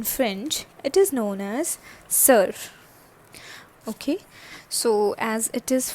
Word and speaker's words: sœur: So this O and E are actually connected, and it is like O and E. Alright, and it produces the sound like sir.